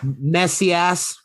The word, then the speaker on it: Macias: your name last name messy ass think about messiah like oh am i